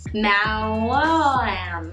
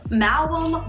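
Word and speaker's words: Maoam: Mallow. I say mallow. That's how I would pronounce it. Mallow. Mallow. Mallow. Mallow. Right? It's M-A-O-A-M. Malum blocks.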